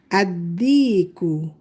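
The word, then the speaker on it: الديك: So to make the rooster, we put alif lam, but the lam is silent. The a connects to dal right away with shadda. Addiku, addiku, the rooster.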